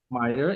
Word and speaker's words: Meyer: her name correct is Arin Meyer Meer okay Meer yes she she she wrote a book culture